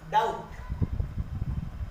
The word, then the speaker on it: doubt: वैसे ही डाउट, इससे पहले भी आया डाउट, क्योंकि आप डाउट नहीं पढ़ते, डाउट, बी साइलेंट।